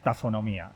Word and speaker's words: tafonomía: isabel rusa y yo nos pregunta cómo se pronuncia tafonomía precisamente pues tafonomía es decir que está fox viene de tazos